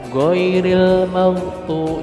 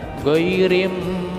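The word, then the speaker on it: غير: benar Alif Lam Qomariah alif lam bertemu Ma jadi l-nya diperdengarkan goiril jangan ghairim madhu salah tetapi l-nya dibunyikan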